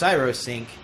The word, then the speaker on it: Cyrosync: Once again, it's pronounced Cyrosync. It looks like Cryosync because cryogenics and ice and icy words.